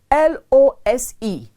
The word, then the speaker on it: lose: as l-o-o-s-e nah no when you misplace something you lose it l-o-s-e and it's pronounced lose loose means not tight